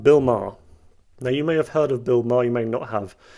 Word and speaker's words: Maher: I used to think his name was actually pronounced Bill Maher, but it's Maher apparently.